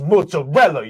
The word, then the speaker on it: mozzarella: me down I went it's pronounced mozarella you say it right when you walk into my store and he scared the